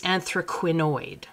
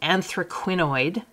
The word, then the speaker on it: anthraquinoid: So this is anthraquinoid. They're related, obviously. Just a slight difference on the end there. So anthraquinoid pink.